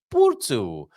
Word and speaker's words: Porto: Yes, the solution is to at least make an effort to pronounce it correctly. Porto.